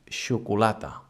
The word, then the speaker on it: xocolata: It happens when we have the X at the beginning of a word, like in xocolata. Xocolata is chocolate, and instead of the CH in English, it's spelled with the X, and it sounds xocolata.